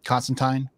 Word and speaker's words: Constantine: with uh with um Constantine or Constantine whatever no you said it right the first time you said it right